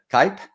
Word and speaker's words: Kipe: So, I believe her last name is pronounced, is it Cup? That's my yes. Yeah. Kipe. Yep.